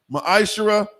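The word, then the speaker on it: ma'aser: Means tenth in the Hebrew. It's pronounced ma'ashera.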